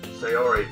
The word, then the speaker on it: Sayori: Sayori told me you didn't even want to join any clubs this year.